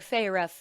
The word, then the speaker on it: Feyre: My sister said Feyre and emphasized Feyre, and that's the only way I knew it was that. Otherwise, I would have said fairy as well.